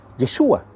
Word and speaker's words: Yeshua: Por ejemplo, la palabra hebrea para salvación es Yeshua, con el acento en la A.